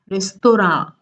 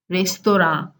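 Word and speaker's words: রেস্তোরাঁ: Then restaurant is a curious case because though restaurant is an English word, the Bengali pronunciation is closer to the French pronunciation and goes as restaurant, restaurant.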